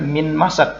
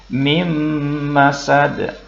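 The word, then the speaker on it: مِنْ مَسَدٍ: Maka bacanya mim masad. Jadi kita baca dengung bukan min masad tetapi mim masad.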